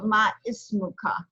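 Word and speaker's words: ما اسمكَ: So ma ismuka. So there'd be a dhamma here over the meme to pronounce it absolutely voweled.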